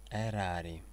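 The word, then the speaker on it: erari: Не ошибитесь, когда будете произносить звук «э». буква Е, похожа на русскую Е, надает аспиранту звук Э. Эрари.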